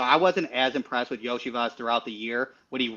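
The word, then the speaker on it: Iosivas: Cincinnati has Burton, and I'm going to butcher the last name, but is it Islovas? Yoshivas.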